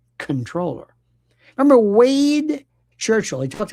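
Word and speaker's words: comptroller: By the way, comproller is pronounced controller.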